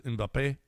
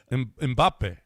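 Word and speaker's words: Mbappé: And then I love how she says inbape. Of course you speak Spanish, you know it's how how you say it, John. Mbappe.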